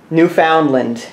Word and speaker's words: Newfoundland: it's an old splash honestly you found them Newfoundland yes that's the correct pronunciation you found it I'm going with the